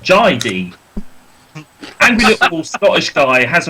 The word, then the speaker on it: Jai D: Not that JD, because that's how you mispronounce it, but Jai D.